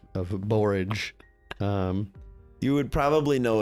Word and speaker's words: borage: called it's called borage it's spelled like forage with a bee it's also known as